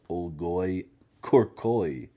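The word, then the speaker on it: olgoi-khorkhoi: Also translated as Olgoy Corcoy. And yes, that is how you pronounce it.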